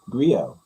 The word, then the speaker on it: griot: It's griot. T is silent. Clearly, griot.